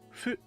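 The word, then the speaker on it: ふ: That fu sound is somewhere between an F and an H. I've heard people tell me all the time, oh, it should be more like an H. No, it should be more like an F.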